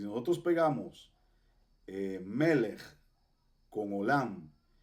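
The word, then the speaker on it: עולם: en la torá Entonces tenemos la ain que es muda Y dónde está la vocal a la izquierda aquí es y cuál vocal es esa la y aquí decimos o oam así es olam significa universo mundo eterno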